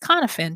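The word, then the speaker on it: Cynefin: c y n f i n but it's pronounced knifin because it's a Welch word and what it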